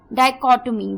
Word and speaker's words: dichotomy: तो जो वर्ड है वो है डाइकोटोमी। डाइकोटोमी, जी हाँ दोस्तों, डाइकोटोमी, DICHOTOMY, डाइकोटोमी। H silent है इस वर्ड में पूरा।